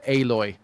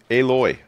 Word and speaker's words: Aloy: well- named lead character aloy aloy I love that one I love Alo name mean alloy no no I mean pronounce the a hard oh you're doing it